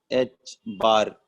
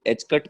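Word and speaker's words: ħ: तो बेटा एच, ध्यान से देखो, एच बार, इसको बार बोलते हैं, कुछ लोग एच कट प्रोनाउंसिएट करते हैं, एच पे ऐसा एक कट लग जाना, बट उस एक्चुअल में वो एच बार होता है।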